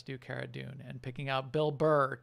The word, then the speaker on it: Cara Dune: actor whose carrot does Cara dune Gina Carano mm-hmm Cara I'm sorry Cara dune she says it should be pronounced cara dune because it's actually based on her last name Carano she's she's a great